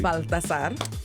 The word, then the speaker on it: Balthazar: Meet Balthazar, the force behind Daily Up Juice, where culture, entrepreneurship, faith, and hustle all come together in a bottle. Balthazar. Yes. Balthazar, did I pronounce it correctly? Balthazar.